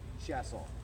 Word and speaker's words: Chaisson: from where I'm from, in my hometown in Houston, we say Chaisson. That's how my mother taught me how to say my name.